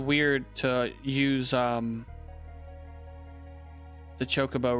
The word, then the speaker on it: chocobo: the chocobo right now how do y'all pronounce it chocobo or chocobo i used to call it chocobo or chocobo i mean and and people would always correct me saying it's chocobo i've heard people